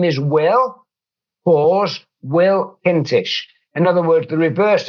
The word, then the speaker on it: Kintish: hello there my name is Will pause will kinsh in other words the reverse of the James